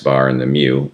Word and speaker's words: mu: And then mu, it's a cursive U-- and it's pronounced almost like a cow's mooing-- is the population mean.